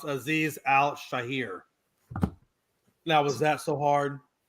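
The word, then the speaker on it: Azeez Al-Shaair: Hey, by the way, the name of that guy is actually pronounced Aziz Al Shahir.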